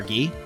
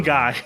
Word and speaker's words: Guy: people of sakai never lie isn't that right guy or ghee sorry ah fine if i i